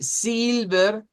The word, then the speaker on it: silver: Si usted dice silver, así silver está diciéndolo con la i larga. Debe ser silver.